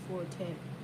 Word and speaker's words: forte: the italian word fort used in music notation is pronounced forte and instructs the musician to play loud she plays the skin